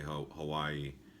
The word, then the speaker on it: Hawaii: know how to say Hawaii its Hawaii the W is pronounced with like a V so anytime you see